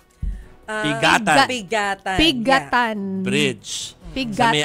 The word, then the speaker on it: Piggatan: anumang uri ng sasakyan ang ano ang tamang pronunciation ah pigatan pigatan pigatan bridge sa may Alcala Cagayan daw